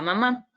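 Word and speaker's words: 妈: Ajá, aquí tenemos otro ejemplo con el carácter ma, que significa mamá.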